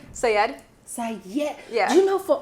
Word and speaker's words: Syed: Shabana Syed. Gosh, am I saying your last name? Because this is embarrassing. Am I saying your last name right? Syed. Syed.